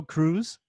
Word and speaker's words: Cruz: It's the Cruz is an S sound in Spanish, and the that